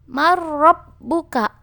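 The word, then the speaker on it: مَن رَّبُّكَ: Marrabbuka. Marrabbuka. Nunnya dialihkan ke huruf ro.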